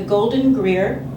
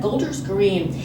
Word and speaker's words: Golders Green: first rabbinic appointment as the rabbi for the golden grier golden gold er green a synagogue in London I knew I was going to mispronounce that Golders Green a small town outside of London and predominantly